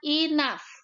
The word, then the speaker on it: enough: Ya, tulisannya seperti ini, tetapi bacanya enough. O sama U-nya dibaca A, G-nya dibaca F.